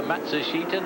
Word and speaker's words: Matsushita: But it's 4 syllables as far as he's concerned, and 3 syllables as far as the family and the sponsors concerned.